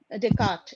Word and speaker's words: Descartes: yes ma'am uh since Dardis has uh am I pronouncing it right Dart s is silent yes since he has talked